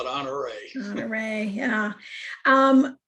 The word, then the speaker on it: Honoré: the pronunciation of the honoré, and some people say it a little differently. So which one is correct? What's the correct pronunciation? It's French. It has its emphasis is on the last E, honoré.